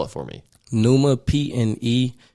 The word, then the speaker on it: Pneuma: how you came up with this name it's pneuma but it's but spell it for me Numa p-n-e-u-m-a it's the root word for uh pneumonia